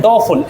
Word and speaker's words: doleful: डोफुल, DOLEFUL, इसे बोलते हैं डोफुल, L साइलेंट है इसमें, डोफुल।